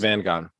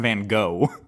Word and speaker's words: Van Gogh: i'll say that vincent van gaan vincent van what gone you know i'm going to give it to you because yes you're right but you're saying his last name wrong it's vincent van gogh there's only three painters